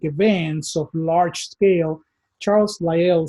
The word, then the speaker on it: Lyell: Later on, there was another idea that was proposed by a contemporary of Darwin, and this was Charles Lyell, or Lyell as some people pronounce it.